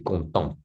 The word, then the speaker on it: contente: Mais ça c'est contente. Contente. Donc le thé, il faut prononcer le thé. Oh parce que c'est féminin.